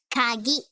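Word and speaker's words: かぎ: This is ka. And this is ki. But then, now that it has tenten on it, it is gi. So it's pronounced as kagi.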